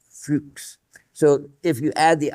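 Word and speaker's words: Fuchs: His name is actually fuks fuks.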